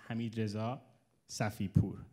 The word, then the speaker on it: Hamidah Safiur: I wanted to apologize I mispronounced one of the sponsors names uh his name is hamidah safiur so our apologies